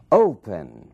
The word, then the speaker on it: open: Open, opening, mesmo caso, open. Ali na primeira sílaba é que está é a força dessa palavra, que está e a sílaba tônica.